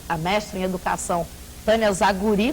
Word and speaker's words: Zagury: E para conversar sobre esse assunto, continua conosco a mestra em educação, Tânia Zaguri, conforme ela me corrigiu, a ênfase na última sílaba, e agora também a